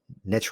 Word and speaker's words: niche: Well, even to kind of branch out from that, as I used to say, call it niche, not niche, because niche rhymes with rich.